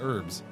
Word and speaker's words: herbs: I absolutely refuse to pronounce the H and herbs though. Yeah. No, I it's herbs.